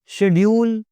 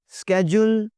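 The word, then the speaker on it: schedule: शेड्यूल, स्केड्यूल, दोनों चलते हैं जी।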